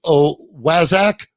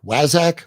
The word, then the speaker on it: Waszak: Is it Waszak? Waszak. You said Waszak, which I like. Yeah, I don't think you're saying it right because it has the word wise in it.